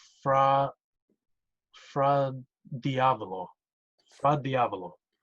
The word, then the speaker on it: fra diavolo: I'm pretty sure it's pronounced fra fra diavolo.